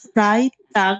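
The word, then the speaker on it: Freitag: কিন্তু যদি লাস্টে জি থাকে, সিঙ্গেল থাকে, তাহলে এটা আমরা কি গে এর মতো উচ্চারণ করবো, ফ্রাই টাগ।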